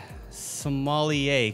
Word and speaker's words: sommelier: Sommelier. Yeah. You know, the funny thing about that is it's spelled sommelier.